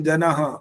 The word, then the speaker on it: जनः: अगारांत है तो अ की आवाज के साथ ह जुड़ता है। महः, ओम जनः, ओम तपः, ये जब